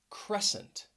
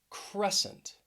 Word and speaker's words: crescent: the word and let's begin with uh the letter c because often you may find words that have a silent c in the middle of the word especially when it it comes after the letter s so all of these words you're going to see that s c combination so let's begin with